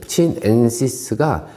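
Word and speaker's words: chinensis: 근데 치넨시스가 제가 아는 상식으로는, 그러니까 지식으로는 차이나 있죠. 차이나. 근데 라틴어 발음으로 치넨, 차이나 치넨, CHI, 넨시스라 그래서 중국에서 나오는 품종이라고 이름을 붙인 것 같아요.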